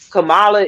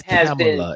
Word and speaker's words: Kamala: say what they want Camala is already vice president she it's camela it's camela don't say her name wrong camalo CER whatever C I said